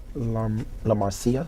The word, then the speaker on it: La Marcia: Her first name is Marcia, or La Marcia. Which is it? La Marcia. Right. Yeah, her name is La Marcia. So not Marcia. No, not Marcia.